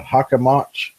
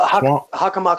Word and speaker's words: Hockomock: It's the Hockomock. No, Hockomock Swamp. Yep. I thought that's how you pronounce it.